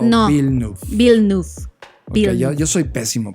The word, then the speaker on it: Villeneuve: Villeneuve. Okay, yo soy pésimo pronunciando.